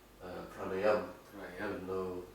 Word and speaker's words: pranayama: But outside India, everyone pronounces the A, like yoga Yoga. and Yoga. yoga. Banda. Band. Pranayama. Yeah. Pranayam. And asana. Asana. So there's no big A at the end. Alright. It's a short A.